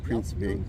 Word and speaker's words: Principe: Principe.